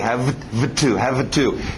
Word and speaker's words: have to: Esse V não bate muito bem com um T, have to. Então sobe esse V e faz um F dele, subir para a boca e vira F. F bate muito bem com o T.